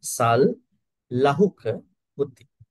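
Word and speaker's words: sallahukavutti: Here we have to break it, break the second word into three when we pronounce apakichocha sal lahuka vuti.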